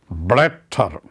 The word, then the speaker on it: Blätter: Das Blatt, die Blätter, Blatter. Pronounce it as blatter.